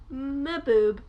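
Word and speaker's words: Mbube: under the title boob i'm not sure how to pronounce it it's m-b-u-b-e because it's like because it's african and i think that's how you pronounce stuff like that when like the m and the b are right next to each other and babe the song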